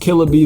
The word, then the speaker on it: KillaXB: It's pronounced Killa B though, and the link is